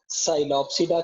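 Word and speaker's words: Psilopsida: एक, नंबर 1, हम बेटा जब बात करेंगे, हम बात करेंगे साइलोप्सिडा की, पी साइलेंट होता है इसमें।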